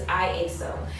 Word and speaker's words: IASO: So I know most people say lasso, or they're not quite sure how to pronounce it, but it's IASO.